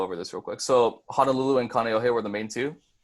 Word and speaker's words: Honolulu: let me go over this real quick so Honolulu and Kaneohe were the main - yes okay so Honolulu is gonna be pronounced Honolulu so Honolulu and then Canio head